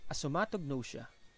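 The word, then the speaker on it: asomatognosia: is this assomatognosia again it is pronounced as a somatognosia so asthmatic gnosia is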